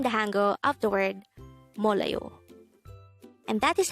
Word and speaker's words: 몰라요: dejango word number 153 this is pronounced as a three syllable word the first syllable is mol second syllable is la the third syllable is